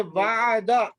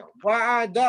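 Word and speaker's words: وعدہ: अब आपने जो है ना कोई लफ्ज छोड़ना नहीं, आखिरी साइलेंट नहीं करना आपने, आखिरी को पढ़ना है, ठीक है जी। जैसे वादा, तीन पे तीनों पे जबरे हैं, वादा आप बोलेंगे, जी जी।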